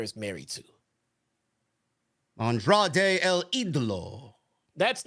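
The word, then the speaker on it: El Ídolo: No, he's El Olode.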